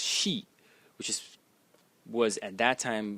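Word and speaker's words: 休: is written like this, and it is pronounced she, like this, and it means to rest.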